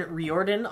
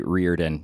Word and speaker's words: Riordan: today we have Bryan reordan on the show if I'm saying that correctly it's actually Reardon nobody knows how to pronounce it it's Old Gaelic okay we're so glad